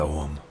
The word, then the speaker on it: Ogham: Ogham, by the way, is spelled O-G-H-A-M. The G-H is silent.